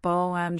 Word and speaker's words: bottom: Bottom shelf can have a soft T in bottom sounding like boam shelf on the right might be on the right with a connected the end right.